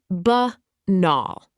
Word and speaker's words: banal: Banal. Pronounced buh nahl.